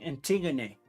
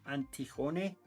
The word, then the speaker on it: Antigone: So 8 points because I'm fighting Antigone. I don't know how you pronounce it in English. It's Antigone.